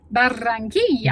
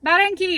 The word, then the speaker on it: Barranquilla: Pronounce the city. Barranquilla. Better Mary not, is 'cause going to there's two slaughter R's. me. I'm sure I messed that up. We're trying really hard. Barranquilla.